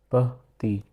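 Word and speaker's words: petit: The first one is, this is pronounced as pati. In Hindi, pati. T over here is silent.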